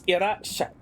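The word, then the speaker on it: いらっしゃい: in Romaji, this is an indicator, like the double consonant is an indicator that the first one is silent, and you stay silent between.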